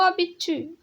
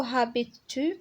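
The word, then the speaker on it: habites-tu: او ابيتو. او ابيتو الاش هنا مي ما كنطقوهاش، ما كنقولوش او هابيتو، كنقولوا او ابيت تو يعني اين تسكن انت، يعني انت فين كتسكن.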